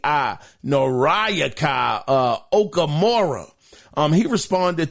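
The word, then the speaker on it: Noriaki: so well with names his name is nayaka it's spelled n o r i a k i nayaka uh okamura um he responded to to the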